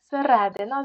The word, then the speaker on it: середина: тому що кури а середина запам'ятайте слово середина наголошується середнє е так і так само посередині